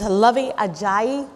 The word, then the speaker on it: Luvvie Ajayi: To my immediate left is Luvvie Ajayi.